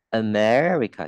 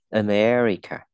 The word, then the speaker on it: America: America, ê, America, trọng âm dấu Amer và cong lưỡi, cuộn cái lưỡi lên. America.